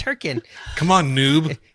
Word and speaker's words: Hurricane: going to be in Utah um in in Hurricane hurriken yeah hurri yeah I've never even been there apparently I know you're pronouncing it wrong it's herin come on Noob it's h it's h k